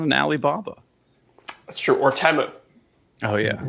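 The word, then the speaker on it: Temu: Alibaba that's true or temo oh yeah I'm glad you said it correctly Johnson would murder you he said if he said Teemu it's U he takes the pronunciation of that brand very seriously almost as seriously as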